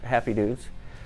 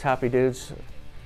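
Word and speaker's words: Hoppy Dudes: together so we have a lot of people mispronounce it and they do call us happy dudes which we are but it's happy dudes you know the more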